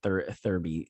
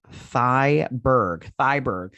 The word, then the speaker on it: Thyberg: And like I said, Thyberg, sorry, her name is Thyberg. I think I said Thurby earlier, or gosh, I don't know how to say this woman's last name. It's Thyberg.